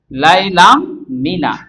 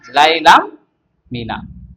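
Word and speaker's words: لَيْلًا مِّنَ: তাহলে এখানে দাঁড়াচ্ছে যে লাইলাম মিনা লাইলাম মিনা এটা হচ্ছে সঠিক আগেরটা ছিল ভুল এজন্য পাশাপাশি দুইটি সাকিন হরফ থাকলে প্রথমটা উচ্চারণ হবে না লাইলাম মিনা লাইলাম মিনা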